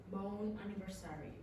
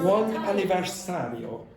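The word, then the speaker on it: buon anniversario: The waiter had arranged a small cake for them with bone anniversary writing on top.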